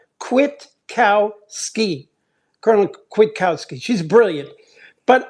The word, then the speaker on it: Kwiatkowski: When I finally heard Judge Napolitano say, it goes like this: quit, like you were going to quit a job. Kwiatkowski, Colonel Kwiatkowski.